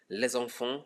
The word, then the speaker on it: les enfants: So there's going to be a liaison that changes the pronunciation of the S from S to Z.